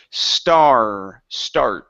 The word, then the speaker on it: start: Instead of saying start, okay, you're saying only an ah sound. Add in the R vowel. Okay, it's start.